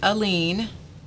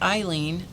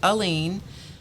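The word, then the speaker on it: Aleene: general public by her first name alone uh pronounced alen alen not alen not Eileen alen it says it right there enjoys comparable status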